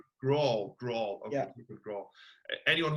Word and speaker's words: Graul: How do we pronounce your second name? Jacob Graul. Graul.